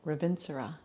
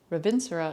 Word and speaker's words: Ravintsara: we're going to be using an oil called revincera not to be confused with ravin sara ravinsura is spelled r-a-v-i-n-t-s-a-r-a vincero is a wonderful pungent oil